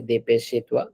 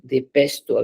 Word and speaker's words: dépêche-toi: Don't say dépêche-toi. Dépêche-toi. Whenever a word is ending with e, it's not a sound at the end. A, yeah, a sound is brought by this e.